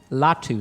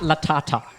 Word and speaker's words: Latu: n's or D's in that at all it's pronounced Wu latu not latata not a not a bad pick there I